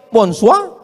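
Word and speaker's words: bonsoir: Bacanya bonjou. Bon soir, bonsoa.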